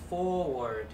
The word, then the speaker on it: forward: Ok, từ này là động từ nhấn âm thứ nhất. Chữ này đọc là forward, nghĩa của nó chính là chuyển tiếp.